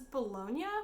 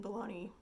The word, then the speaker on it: Bologna: just waiting for this to dry this is bologna which i think is how you pronounce the city in italy um and saint